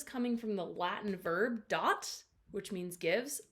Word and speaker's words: dat: from the latin verb dot which means gives i know it's spelled d-a-t but it's pronounced dot so dot means gives